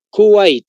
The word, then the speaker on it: Kuwait: Cada kilo U-W-A-I-T. Kuwait, tal como se escucha.